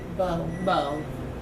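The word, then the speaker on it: Beau: But how do you pronounce his name? It's B-E-A-U? Bo Biden.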